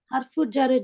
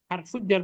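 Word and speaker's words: حرف جر: হারফু জারের জন্য হয়েছে। হারফুজ জার বলবো না, আমরা হারফ জারের জন্য। হারফুজ জার ব্যাখ্যা বুঝিয়ে বলেছিলাম, শব্দটা উচ্চারণ করবো হারফ জার।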